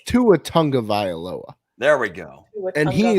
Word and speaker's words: Tua Tagovailoa: I don't give a shit if it's Tunga Tagovailoa, Taya. Come on, Sam, correct him. I don't know how to say it. Don't put that on me. It's Tua Tagovailoa.